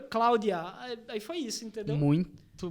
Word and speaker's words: Cloudia: É uma pronúncia meio em inglês, e o IA, que é sigla em português. Então, foi uma mistura. Cloud IA.